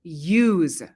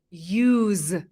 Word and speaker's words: use: Let's practice some common English expressions with use. When use is alone, it's usually pronounced use with a z sound at the end.